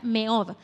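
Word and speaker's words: מאד: Y dice eh la palabra que se utiliza para fuerza es se pronuncia meod.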